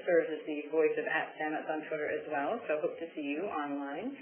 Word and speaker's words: Sametz: She's the director of digital and strategic initiatives at Stamets. Stamets, did I pronounce it right, Tamsen?